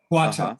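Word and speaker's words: 话头: a second, about the I forget how to pronounce these, even though you just said them. The Gong'an and the Huato. Huato.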